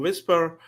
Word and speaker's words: Vispr: it of your two exactly like you said whisper okay so that's not